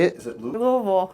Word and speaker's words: Louisville: Yeah, we're making a documentary here on How would you Louisville.